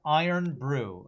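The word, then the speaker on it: Irn-Bru: got in this run it's pronounced iron Brew okay sparkling water only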